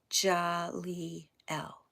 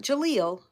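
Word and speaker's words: Jaleel: spelled j a l e e l but pronounced jly L not Jalil J L and in the middle of all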